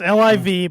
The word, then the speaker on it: LIV: That's how you pronounce it. It's LIV, but it's LIV Golf kicked off this week with a big bang.